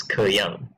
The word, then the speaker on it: K3Y4NG: So my next opponent of this tournament, his name is K3Y4NG, otherwise pronounced as Ke Yang.